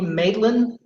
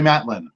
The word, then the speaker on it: Matlin: Marley Maitland. We don't go by pronunciation. Marley Matlin, but the spelling would be the same.